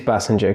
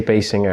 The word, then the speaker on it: Basinger: it called a passenger it is passenger cuz a lot of people say Basinger and I think I hate that pronunciation but she still looks